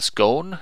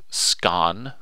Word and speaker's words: scone: cluttered cream and ideally homemade strawberry jam the scone pronounced scan no it's scone yeah [